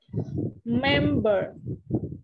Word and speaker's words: member: Đấy thì mình sẽ nhấn mạnh vào cái âm đầu tiên. Member.